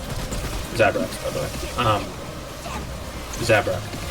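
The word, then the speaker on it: Zabrak: by the way um zabra zabra um at least that's how they say it in the game play not that it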